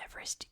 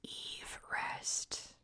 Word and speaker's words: Everest: has changed over time George's name is actually pronounced Eve rest what it's actually Mount